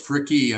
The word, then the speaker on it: Fricke: Fricke. I pronounce the E on the end.